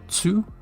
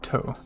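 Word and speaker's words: と: cheek and our second exception for ta was to sounds like two but the t and s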